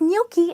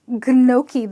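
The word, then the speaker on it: gnocchi: it's pronounced as milky so the G here is silent and there is an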